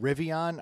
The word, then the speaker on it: Rivian: But there's a company that last year, it's called Rivian. I might be pronouncing that wrong, but that doesn't sound like Brendan.